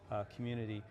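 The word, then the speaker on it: Cxmmunity: There's a great company in Atlanta called Community, which is spelled CX instead of an O, Community, which launched an esports league, the first esports league for HBCU schools.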